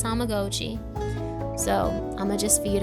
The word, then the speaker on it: Tamagotchi: Yes, that is how you pronounce it. It's kind of a thing for me because we all grew up saying Tamagotchi, but it's Tamagotchi.